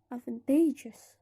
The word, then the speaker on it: advantageous: ended it is pronounced advantageous the stress is in the last syllable of the stem the explanation of the